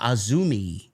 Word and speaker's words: AZM: Ah, Azumi. Okay. It's not spelled that way though. No, it's spelled like AZM.